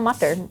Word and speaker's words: matar: You know how my mom taught me how to pronounce the word matar, which is the joke, matar means pea in Hindi. How does a pea talk? It mutters.